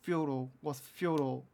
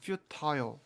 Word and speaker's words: futile: 영국에서 발음하면 futile 이렇게 직접적으로 발음하고 미국에서는 futile 이렇게 발음하고 뭐 그냥 개인에 따라 다르다고 봐도 되겠지만 The dark clouds in